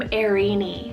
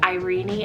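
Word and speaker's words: Eirini: Then for the second E name I have for you guys is the name Irini, spelled E-I-R-I-N-I. Or I guess some people could pronounce it as Irene as well, depending on where you are.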